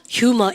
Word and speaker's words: humor: He has a sense of humor 이렇게 얘기하죠. 여러분 우린 유머 그런데 H 발음하세요. 따보세요. humor 그래요.